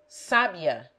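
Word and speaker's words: sábia: The accent may make it sabia, a learned woman.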